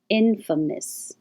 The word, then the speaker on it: infamous: famous famous amos and now the stress is on in infamous infamous terrorist now tear your tongue